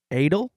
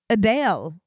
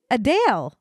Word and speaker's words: Adele: core give me one we've been pronouncing Adele wrong can I guess what the ACT pration is adal no it's adale what adale during Q&A in October